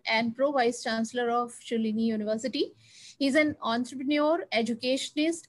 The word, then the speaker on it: Shoolini: both from i think you call it as shulini university that is right am i right that's the right pronunciation you are perfect okay okay so on